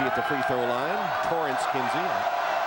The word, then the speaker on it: Torrance: Torrance Kinsey. His first name is spelled Terrence, but pronounced Torrance.